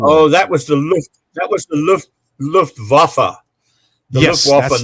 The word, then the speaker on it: Luftwaffe: that was the Luftwaffe. The Yes, Luftwaffe, that's it. not Lufthansa. Yes, Luftwaffe.